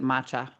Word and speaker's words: matcha: Lissa enjoys matcha lattes. Do I'm pronouncing matcha right or is it matcha?